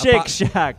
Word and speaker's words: Shake Shack: It's pronounced Shake Shack.